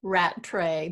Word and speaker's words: Rattray: you Donna cut yeah it's it's Rattray but you can call